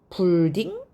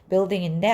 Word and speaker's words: building: 다음은 BUI라 가지고 UI는 우잖아요. 불딩? 아닙니다. U가 소리가 안 났다는 걸 발음 기호에서 확인할 수 있어요. 비읍에 요 기호도 I라 그랬죠? 그 다음에 L은 리을, D는 드 똑같고요. I는 E. 근데 요 기호가 받침 이응이라고 했어요.